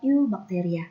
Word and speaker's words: eubacteria: dan juga ilmu bacteria tulisannya archaebacteria tapi dibacanya Arfi bacteria ini tulisannya eubacteria tapi dibacanya adalah you bakteria yo yo ini saya